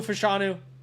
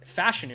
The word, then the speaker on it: Fashanu: I'm kidding guys Olu fashanu or fashion think is actually how you say it goes to the Saints